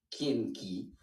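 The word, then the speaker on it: རྐྱེན: Alors ensuite, Kandi, Marik Pei, Kegin, Kien, kien, kien. Kendi, Kien ki. Dushinam. Duchenam. Duchenam. Dushinam. Ah, duce. Du, Non, c'est duce qui. oui, Duce Ki, Kienki, Nampar Shepa.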